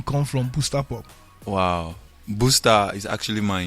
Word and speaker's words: BustaPop: Okay so I get this guy now half Ghanaian half Nigerian and of course they call him Booster Pop but the real pronunciation booster pop.